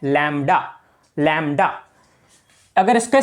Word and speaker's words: lambda: लैम्डा अगर इसका spelling बताऊं तो वो होते हैं LAMBDA, लैम्बड़ा, पर इसको बोला जाता है लैम्डा। बी मत बोल देना साथ में और लैम्बड़ा बन जाएगा।